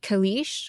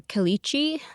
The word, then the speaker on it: caliche: And underneath this is something called I've heard it pronounced caliche or calichi.